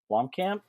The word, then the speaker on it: Blomkamp: Neil um of course can't pronounce the last name Blom Blomkamp yeah district 9 yeah he's working on a